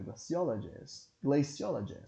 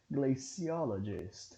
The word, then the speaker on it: glaciologist: Não, nesse caso aqui ele não deu, mas se vocês quiserem pesquisar, vocês vão observar que a pronúncia é glaciologist e não glaciologist, ok?